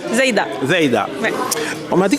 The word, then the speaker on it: Zeïda: Je suis avec Zeda. Est-ce que je le prononce bien? Zaida.